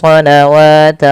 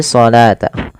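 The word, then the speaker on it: الصلاة: Maka jangan kita baca wa aqimus sholawata wa aqimus sholawata wa. Salah, karena dia bukan dibaca dengan sholawah, tapi sholata.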